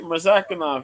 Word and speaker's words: Murzakanov: Butchered that. Nah, you said it right, Murzakanov.